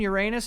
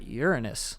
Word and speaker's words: Uranus: Venus, Mars, Jupiter, Saturn, Neptune, Uranus, and Mercury.